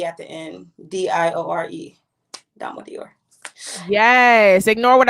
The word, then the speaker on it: Diore: Diore.